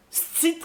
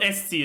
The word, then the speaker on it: esti: Stit calice. Des fois, on fait juste pas prononcer le E. It's not esti, it's sti.